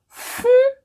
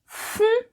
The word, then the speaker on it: fún: Also, notice that the way I pronounced fún is a bit on the high side. My voice is a bit elevated when I say fún, fún. So now I'm going to